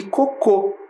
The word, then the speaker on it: cocô: analisamos a palavra ece sabemos que a palavra coco é uma palavra paroxítona o que que significa isso tem a penúltima sílaba tônica e a palavra cocô é oxítona tem a última sílaba tônica percebemos também algumas diferenças